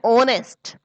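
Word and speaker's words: honest: एन ओनेस्ट, N historical, ये historical है ना कि हिस्टोरिकल।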